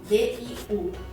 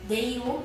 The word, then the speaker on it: diu: Outro exemplo, D-I-U. D-I-U não é Diu, e sim Diu. Diu é como se você estivesse falando D-I-O-U. Diu.